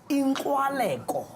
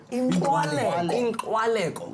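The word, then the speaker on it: inkxwaleko: Inkwaleko. Inkwaleko.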